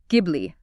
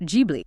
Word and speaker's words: Ghibli: The studio is pronounced Ghibli, hard G. It is not Jibli.